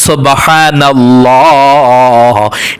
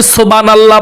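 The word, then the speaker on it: سبحان الله: শুধু সুবহানাল্লাহ বললে হবে না। আপনি সুবহানাল্লাহ বললেন। সুবহানাল্লাহ না। সুবহানাল্লাহ। বড় হা দিয়ে উচ্চারণ করতে হবে।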